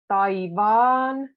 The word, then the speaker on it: taivaan: Taivaan, again double A, taivaan.